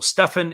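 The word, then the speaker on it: Stephan: be entrusted to face bobby witt jr so stefan is the proper pronunciation here so trevor stefan in the game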